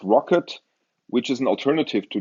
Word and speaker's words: rkt: implementation there's something called rkt RTT pronounced rocket which is an alternative